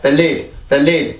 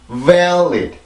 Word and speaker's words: valid: 그래서 그냥 valid 이게 아니라 valid 이렇게 해서 소리를 만들어 주셔야 됩니다.